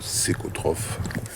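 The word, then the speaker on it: cæcotrophe: Ça s'écrit mais ça se prononce séchotrophe.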